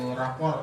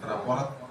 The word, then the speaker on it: rapor: Jadi yang pertama, ini sesuai dengan ejaan bahasa Indonesia yang benar, kita itu rapor ya, bukan raport.